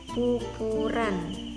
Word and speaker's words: pupuran: Saya ulangi, pupur plus an, jadi bacanya pupuran.